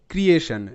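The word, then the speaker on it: creation: তো এখানে কিন্তু TION একটা প্যাটার্ন, শান উচ্চারণ করে এবং টি এখানে তালব্য স হিসেবে উচ্চারিত, অ্যাকশন। নেক্সট শব্দ ক্রিয়েশন, CREA, ক্রিয়ে, TION শান, ক্রিয়েশন, ক্রিয়েশন।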